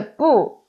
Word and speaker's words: 不: is first help me right and here character poo is original town is wet of course is